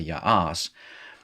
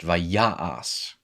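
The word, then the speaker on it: וַיַּעַשׂ: the the preform so this is not pronounced by ya'as this is pronounced vayas okay and then you're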